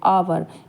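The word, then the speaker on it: hour: भले ही ये spelling H से शुरू हो रही है, लेकिन एच जो है यहाँ पे साइलेंट है और आवाज़ जो साउंड जो आ रही है वो ओ की आ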